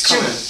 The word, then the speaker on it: cumin: It's cumin.